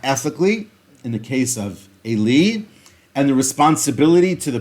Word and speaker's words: Eli: Famously, at the beginning of the book of Samuel, the priest Eli, or Eli, however you like to pronounce it in the Hebrew, it's Eli.